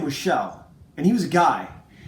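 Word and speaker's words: Kjell: Now, okay, so I had a friend named Shell, and it's spelled just like this. It's a Danish name, and K-J-E-L-L, but I think I've heard Ethan say this is Kelsin. My friend's name was Shell, and he was a guy.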